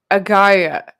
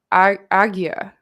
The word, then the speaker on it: ajna: awakening the sixth chakra ajna means command pronounced as agaya aggya okay so that's how